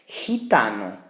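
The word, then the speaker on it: gitana: to determine here is if that g makes a hard G sound like G or a soft G sound like ha almost like an H in English so we have the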